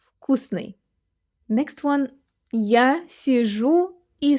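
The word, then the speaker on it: вкусный: In Russian it often happens that voiced consonants at the beginning of words are pronounced as their voiceless twins. So we say not "vkusny" but we say "vkusny". "vkusny" Next one, "ya sizhu i smotryu vakno".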